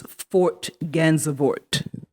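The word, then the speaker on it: Fort Gansevoort: the iceberg that's at the gallery I can't pronounce the gallery name what is it it's Fort gansevort it's dutch I believe okay and that's in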